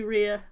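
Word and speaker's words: Reah: Lady Rhea, Lady Fina.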